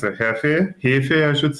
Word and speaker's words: Hefe: And it's a Hefe, I should say, the proper pronunciation.